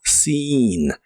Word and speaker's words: seen: Es se la doble e se pronuncia como una i larga o doble en esta palabra y suena como seen y equivale a visto